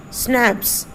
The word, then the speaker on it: schnapps: We have, W-E-V-H-A-V-E, have, we have, S-C-H-N-A-P-P-S, snaps. Snaps means it should be pronounced as snap, a German drink made from grain.